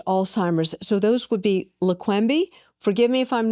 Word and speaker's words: Leqembi: So those would be Leqembi. Forgive me if I'm not pronouncing them correctly.